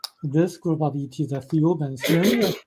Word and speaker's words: Thiaoouba: So what Michel was told that this group of ETs, the Thiaoubans, remember Thiaouba is pronounced very similar to Jehovah.